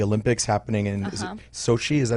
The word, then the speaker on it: Sochi: problems with the Olympics happening in is it Sochi? Is that how you say it? Sochi.